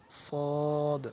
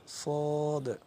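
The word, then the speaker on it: ص: জিহ্বার আগা, সামনের নিচের দুই দাঁতের পেট ও আগার সঙ্গে লাগাইয়া উচ্চারিত হয়। দেখেন, সামনের নিচের দুই দাঁতের পেট ও আগার সঙ্গে লাগাইয়া সদ উচ্চারিত হয়, যেমন সদ, সদ।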